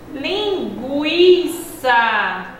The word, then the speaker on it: linguiça: Linguiça. Preguiça. Observem que nessas duas palavrinhas existe o gue, o i, e na primeira palavra, linguiça, o som do u foi pronunciado.